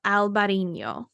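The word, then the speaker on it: Albariño: green flavor you should try a wine called Albarino Albarino or alvarino which is what it's called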